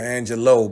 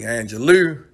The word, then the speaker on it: Angelou: Some of y'all might call her Maya Angelou, but it's really Angelou, but it's however you want to pronounce it.